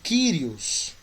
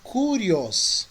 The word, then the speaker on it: Kyrios: a pronúncia do substantivo Kyrios. Você vai encontrar autor que vai pronunciar Kurios, porque ele é com Y.